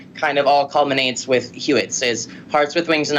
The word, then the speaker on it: HWWETS: It's hashtag HWWETS, and I pronounce it Hewitt's.